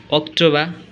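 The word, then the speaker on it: October: মেই June July August September লাস্টে যদি আর থাকে সেই আর উচ্চারিত হবে না। September, অক্টোবা, November, December. এই জিনিসটা আমাদের মনে রাখতে হবে। অর্থাৎ শব্দের শেষে যদি আর থাকে তাহলে আর এর উচ্চারণ হবে না।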